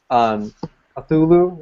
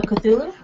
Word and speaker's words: Cthulhu: If you like Cthulhu, if that's the right way to pronounce it, or did I say it right? I think so. Cthulhu. Cthulhu.